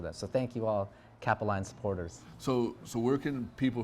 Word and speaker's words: Capeline: But people think it's Capellini, Capeline.